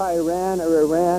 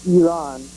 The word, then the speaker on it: Iran: senators, the president, and callers to C-SPAN can't pronounce the name of our country correctly. It's not Iran or any of the silly, stupid things people say. It's Iran.